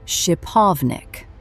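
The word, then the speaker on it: шиповник: This fruit is called shipovnik, pronounced shipovnik.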